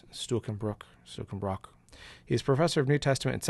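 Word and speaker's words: Stuckenbruck: How do you say his name? Stuckenbrock, or at least that's if you pronounce it woodenly. Stuckenbrock.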